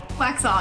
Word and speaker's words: Waxhaw: We got Amy Stefanik here today from Waxhaw, North Carolina. Did I say that right? Waxhaw, yeah.